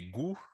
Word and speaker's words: gou: aussi agri, et, et goût, le goût en créole, G-O-U, c'est goût en créole. Donc, ça sonne comme le français, mais ça s'écrit sans le T.